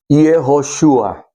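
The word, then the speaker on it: יהושע: En el hebreo se pronuncia Yeshua y es una manera corta de mencionar o decir o pronunciar Yehoshua, que es o que se refiere a Dios es salvación, o Dios o Yahvé es salvación.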